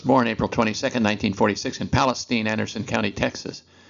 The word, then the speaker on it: Palestine: April 22nd 1946 in Palestine Anderson County Texas spelled like Palestine the country but in Texas better be pronounced Palestine he one of six